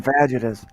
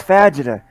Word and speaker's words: fajita: Give me one of them fajitas. 6,000 chicken vaginas. Vaginas. I'd like a vagina, please. It's horrible. Quesadilla. No. It's fajita. It's fajita. You're putting the wrong emphasis on the wrong syllable.